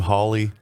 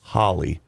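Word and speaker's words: Hawley: between what's his name holly is it howly is that how you pronounce his name yes and that professor i did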